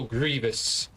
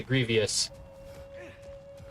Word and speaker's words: Grievous: General Grievous. Or as some people incorrectly pronounce it, Grievous.